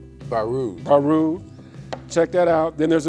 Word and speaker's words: Baroud: How do you pronounce his last name? Baroud.